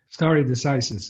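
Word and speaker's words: stare decisis: to roe versus wade starry decisis is the uh the way thank you a lot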